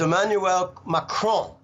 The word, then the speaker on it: Emmanuel Macron: out of 200 kids so the way you pronounce it is emmanuel macron okay macron won the rigged farcical corrupt election